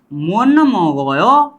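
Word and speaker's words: 못 먹어요: की तरफ म आया, तो स का उच्चारण न किया जाता है और म का उच्चारण चेंज नहीं होगा, म का उच्चारण म ही रहेगा, ठीक है। तो यहाँ पर हम क्या बोलेंगे, मुन मोगयो, मुन मोगयो, मोत मोगयो नहीं, मुन मोगयो, छनुन फाबुल मुन मोगयो,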